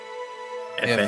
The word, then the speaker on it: Aoife: So he looks like a copy of Aoife. So, That's how you say that name? Yeah, sure. Okay. Yeah, sure, I'll trust you. Its pronunciation is E-E-F-E. Aoife. Phonetically, Aoife, something like that, yeah.